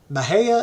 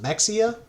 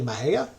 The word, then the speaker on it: Mexia: Parker State Park in Maha and just in case you're looking it up it's not spelled how it sounds Maha is actually me x a most folks think it's pronounced Mexia it's actually Maha the city of Waco